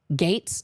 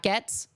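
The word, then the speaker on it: Gaetz: hate Trump but now Gates not gats Gates Matt Gates okay well they should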